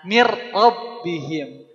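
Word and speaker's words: مِنْ رَبِّهِمْ: min rabbihim min rbihim awalnya Min karena ketemu ro bunyi n-nya jadi lebur ke huruf Ro Jadi Mir ini pakai guna atau enggak enggak jadi bacanya gimana ah mirbihim kalau pakai gunah kumaha Mir Rip ya Jadi tidak di sini mah untuk lam sama ro dia tidak pakai gunah mirbihim ya Nah selanjutnya ada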